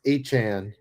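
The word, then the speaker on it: Etienne: It's pronounced Echan.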